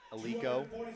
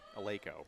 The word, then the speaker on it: Eleiko: record straight right now with the proper pronunciation of Eleiko. Because for the longest time, I've said Eleiko, Eleiko. but it is pronounced Eleiko. Until we met the owner of the brand, and then we said it wrong to his face.